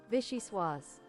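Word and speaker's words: vichyssoise: Pronunciation please. Vishy swas.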